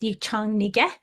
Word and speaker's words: Miriam Yang: as Miriam Yang, but whose name would be more appropriately pronounced Yichang Nige, was a co-chair in 2020.